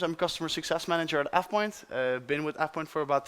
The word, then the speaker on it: AvePoint: Um, it's called AvePoint. uh, AvePoint, yeah, I know, it's weird. Europeans don't like that. But if you say AvePoint, I won't be harassed or anything, don't worry.